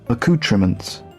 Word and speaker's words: accoutrements: How do you pronounce that? Hang on. Give me a second. How do I put it here? Accoutrements.